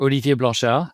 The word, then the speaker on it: Olivier Blanchard: So I'm Olivier Blanchard, or Olivier Blanchard, as you rightly pronounced my name the second time.